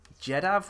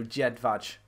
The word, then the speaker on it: Jedvaj: Jedav or Jediv? Or there we go, Jedvaj. That's the one, Jedvaj.